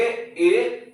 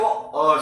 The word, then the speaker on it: a: दोस्तों देखो, ये जो ए है ना, इसका हम प्रोनाउंसिएशन करेंगे ए या तो अ से।